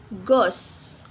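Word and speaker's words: ghost: pronounce the letter H and Gauss will not pronounce h Goss like that and or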